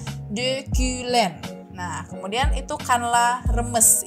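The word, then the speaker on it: dökülen: kayak Bahasa Indonesia dan itu ada De kulen jadi itu O sama u-nya kan ada titik dua di atas ya jadinya harus dimonyongin bibirnya jadinya De Klen nah kemudian itu kanla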